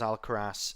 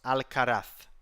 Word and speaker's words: Alcaraz: guess the Spanish players the Spanish people they pronounce it Carlos alcaraf I think like something like that al-karath but obviously the English speaking uh population says just al-karas right so because al-qadath